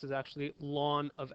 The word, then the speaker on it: ln: natural logarithm okay and it's given the notation Ln okay and it's pronounced lawn so log to the base e of X is actually lawn of X is what